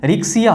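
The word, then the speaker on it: Riccia: ध्यान देंगे कि जो आपके ऑप्शन में रिकिया दिया हुआ है, एक्चुअली इसका प्रोनाउंसिएशन रिक्सिया होता है।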